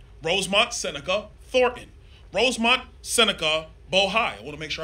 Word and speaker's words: Bohai: Alpha, RSTP2 Bravo, Rosemont Seneca Thornton, Rosemont Seneca Bohai. I want to make sure I pronounce it right. Bohai, B-O-H-A-I.